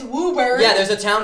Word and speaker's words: Woburn: uber in no way it's woober yeah there's a town called woburn i know